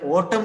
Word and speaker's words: autumn: pearl and in the Autumn season this is Autumn a u t u MN maybe a little bit confused with the pronunciation this is not utan this is autumn Autumn season bore Rich